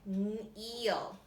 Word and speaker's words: kneel: know this is silent and then I just pronounced the n EE L Neil all right you need to fill in the